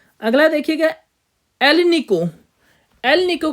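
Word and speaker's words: Alnico: अलनी को ठीक है एक साथ प्रोनाउंस करेंगे तो एल निको बोला जाता है इसको ठीक है इसका जो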